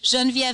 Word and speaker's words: Genviev: being European is obviously a little tricky so janvier is G as in George II as in